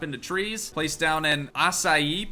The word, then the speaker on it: açaí: trees place down in açaí palm not acai I'm pretty sure that's how you pronounce that all the white girls